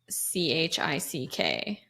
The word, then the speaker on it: Chick-fil-A: one is spelled chick c-h-i-c-k I don't my gut tells me that it's without the k yep okay but we're both wrong it's chick with a K but here's my problem